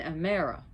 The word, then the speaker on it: Hemera: They have two children, Aether, which is brightness and light, and Amara, or we call her Hemera, but Amara, because again the H is not pronounced, is the day.